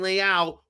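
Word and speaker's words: Leão: Instead of Leao, Leo.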